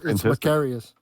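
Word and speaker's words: Makarios: It's mccarius.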